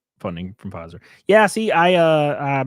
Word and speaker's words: Pfizer: The P is silent, just like my name. Funding from Pfizer.